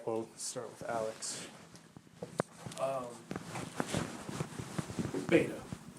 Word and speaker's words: beta: start with Alex um beta remember the pronunciation V Vita yeah there you go